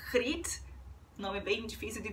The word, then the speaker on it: Griet: O G em holandês é pronunciado R, então deve ser Griet, nome bem difícil de